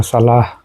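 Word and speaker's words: صلاة: আমরা জানি সালাত যাকাত সালাত যাকাত এগুলা লিখে আমরা কিভাবে লিখি এখানে ও আলিফ এক্সট্রা লেখা হয়েছে তো আমরা যখন এখানে থামি তখন সালাহ বলে থামি বা যাকা বলে থামি বা সালাত সালাওয়াত বলি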